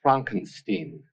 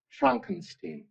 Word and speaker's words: Frankenstein: That's Frankenstein. Beg your pardon? What? It's pronounced Frankenstein.